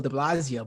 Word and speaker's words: de Blasio: Also, small correction, it's pronounced Debunglio. Yeah. I mean, I said it too. I when I heard Giuliani say this, I hate that I have to defend Bill de Blasio, but I can't let, credit where credit is